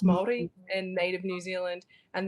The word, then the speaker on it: Māori: Now, if I've got Scottish, like a bit of Scottish, it's Māori, so it's pronounced Māori, and native New Zealand, and then Aussie convict.